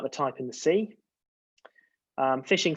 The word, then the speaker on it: phishing: type in the sea fishing spelt with a ph is the fraudulent practice